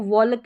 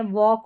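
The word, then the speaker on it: walk: जैसे इसको वॉलक या टॉलक नहीं पढ़ते हैं। वॉक और टॉक पढ़ते हैं। यहां पर एल साइलेंट है।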